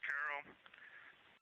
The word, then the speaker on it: Carroll: Her name was Carol, the spouse of Reid, the mother of Katie and Ellie.